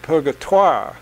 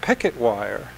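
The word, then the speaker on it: Purgatoire: river of lost souls the French called it pergurt wah with the French pronunciation and then the I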